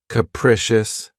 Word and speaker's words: capricious: my favorites is capricious this word has three syllables and the stress is on the second syllable keep in mind that the first syllable has that schah sound capricious capricious if someone or something is